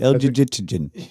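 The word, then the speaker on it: Elgygytgyn: I've never really known how to pronounce El-Jijit. How would you say this, Kyle? Yeah, I think you had it right. El-Jijitjin.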